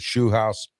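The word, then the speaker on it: Scheelhaase: They got Nate Shoehouse, the former, I finally pronounced his name right, the former pass game coordinator for the Rams and possible Steeler head coaching candidate.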